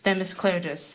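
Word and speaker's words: Themis Klarides: House Minority Leader, Themis Claridis. Themis, how are you? Good, and you pronounced my name properly, so you're way ahead of the game from all the other leaders in Connecticut.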